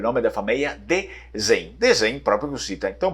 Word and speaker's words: Dezen: também variações de pronúncia, Dezen, não sei, mas na verdade o sobrenome seria lido como Dezen, porque praticamente a gente